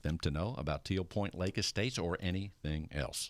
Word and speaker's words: Tealpointe: point lake dot-com and it's spelled te ALP o int e lake com teal point lake dot-com te ALP o I and te lake dot-com they put that e in there right yes everything you need